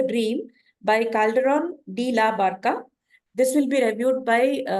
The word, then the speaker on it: Barca: Now, I'm trying to review the play written by Calderón de la Barca, pronounced Barca in Spanish, who is one of the very great Spanish playwrights, along with ๊ viða.